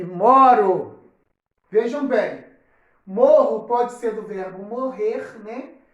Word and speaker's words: moro: E no caso, deixo de escrever com os 2 R's, a palavra fica com R brando e passa a ser pronunciada moro.